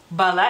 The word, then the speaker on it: bala: lituano no más que el acento en lituano cae sobre la segunda a o bueno técnicamente la primera Porque así es como los filólogos al menos el lituania no sé aquí en México este contamos las sílabas las sílabas se cuentan desde atrás o sea desde el final hacia adelante Por así decirlo Entonces sería técnicamente la primera sílaba Pero bueno para ustedes sería la segunda si no son filólogos